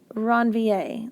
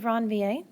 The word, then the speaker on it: Ranvier: are called nodes of ranvier it's a French guy so it's pronounced all fancy so those are the nodes of ranvier so the nodes of ranvier they don't have any